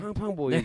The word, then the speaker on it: Fang Fang Boys: 아 F 발음으로 하시면 안 되는데 팡팡인데 아, 팡팡 보이즈 네. 아닙니다 F 발음으로 하셔야 됩니다 아 죄송합니다 F 발음으로